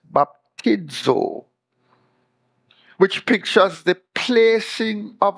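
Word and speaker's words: βαπτίζω: Greek word translated baptized in Galatians 3:27 is baptizo that's how it's pronounced baptizo which pictures the placing of a thing into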